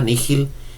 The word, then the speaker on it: nihil: y l s m estrictamente el latín tendría que decirse que es una palabra latina ni hill que significa nada entonces si pudiéramos equiparar